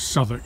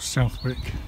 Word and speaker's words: Southwark: And it's pronounced Southwark, not Southwick.